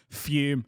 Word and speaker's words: Fume: compared to my absolute favorite sponsor of ours fume spells f-u-m but it's pronounced as if there's any on the end